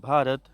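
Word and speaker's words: Bharat: हैं कैसे भ पढ़े इसे देखिए बी के बाद एच है इसमें इसको पढ़ेंगे बी एच ए आर ए टी भारत इसे पढ़ेंगे बी एच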